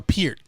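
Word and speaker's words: Peart: his showmanship and neil pert that was uh our peer is how you pronounce his name neil peter from rush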